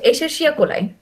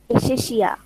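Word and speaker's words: Escherichia coli: আচ্ছা, এশেরশিয়া কোলাই। এশেশিয়া। এশেরশিয়া, আচ্ছা আমি স্পেলিংটা দেখাই, হয়ে গেল আমার। এশের আরটা হচ্ছে হালকা করে উচ্চারণ হবে, এশেরশিয়া কোলাই।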